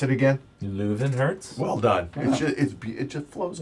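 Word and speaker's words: Löwenherz: With how do you pronounce it again? Leuvenherz.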